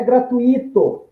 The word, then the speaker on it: gratuito: Então, em gratuito, o U prevalece sobre o som do I, que é semivogal.